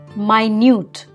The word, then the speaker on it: minute: is what leaders do when you say minute you can mean what is generally referred to as 60 seconds one minute but this word also stands for something very very small there we pronounce it as minute minute row is like rowing